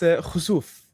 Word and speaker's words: Khosouf: I just want to make sure how your name of your studio, so I pronounce it properly. It's Khazuf.